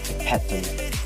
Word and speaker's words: epitome: But since I know better now, I already correctly pronounce it as epitome, and you should too, because as future elementary educators, we should be an epitome of success.